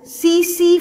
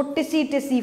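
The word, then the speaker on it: tsetse: And vector, इस protozoan को carry करने वाला जो वेक्टर है, दैट इज सीसी फ्लाई. कुछ लोग उसको टिसी टिसी फ्लाई भी बोलते हैं. टी is silent, सीसी फ्लाई.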